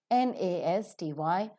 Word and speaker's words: nasty: N-E-S-T, nest, N-A-M-E, name, N-O, no, N-U-N, none, N-A-S-T-Y. The British pronunciation is nasty.